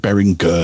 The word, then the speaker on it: Behringer: behringer or is it bearing gur yeah well that's it bearing somebody pointed out to me um in the chat oh you're saying it wrong bearing uh and it because it was all behringer um yeah i'm never